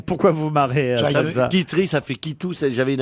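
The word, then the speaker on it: Quiterie: Kitri, ça fait Kitou. J'avais une amie qui s'appelait Kitri.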